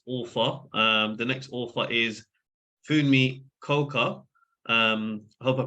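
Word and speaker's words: Funmi: My name is Fummi Coker, so it's spelled F-U-N-M-I.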